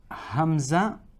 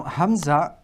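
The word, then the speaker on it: همزة: name is Hamza but the sound that it's going to produce is an a sound like a now let's look at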